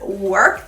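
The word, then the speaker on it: Werk: And the shade is Work the Room.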